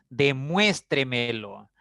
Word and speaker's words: demuéstremelo: Demuéstremelo. Palabra de 5 sílabas, ¿ya? La mayor fuerza está en la cuarta sílaba, por lo tanto, sin